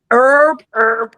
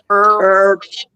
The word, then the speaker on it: herb: Do you understand how much time we have saved collectively by not pronouncing the H but just going straight to the E?